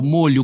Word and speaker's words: molho: Aí aquilo que eu falei para você, ó, o molho como condimento tem o o fechado. Agora, se for feixe, né? Feixe, que é uma quantidade de objetos, né? Por isso que a gente fala molho de chaves, porque é